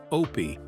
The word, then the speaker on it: Opie: with Dopey Howard confessed my character's name Opie rhymes with dopy I'd have to get